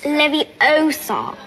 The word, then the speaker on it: Leviosa: someone's eye out besides you're saying it wrong it's leviosa i'm bisexual which means